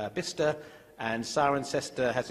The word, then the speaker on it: Bicester: In England, we're very strange, so that Bicester becomes Bister, and Cirencester has its